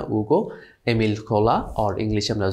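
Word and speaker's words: Hugo: French রাইটার্সের মধ্যে আছেন novelist Alexander Dumas, Victor উগো, French pronunciation maybe হুগো হবে না, উগো, এমিল কোলা, আর ইংলিশে আমরা জোলা পড়তে পারি, বেলজাক।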